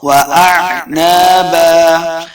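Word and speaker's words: وأعنابا: بالکل نہیں کرنا حدائق واعنابا دیکھیں پہلا ہے حمزہ دوسرا عین ہے تو دونوں میں تلفظ کا فرق واضح کرنا ہے واعنابا وَكَوَاعِبَ أَتْرَابًا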